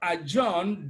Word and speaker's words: adjourn: Then again in the word adjourn, D is silent.